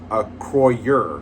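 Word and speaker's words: Acroyear: We have Okay, so it's not a Croyer. It's pronounced a Croyer.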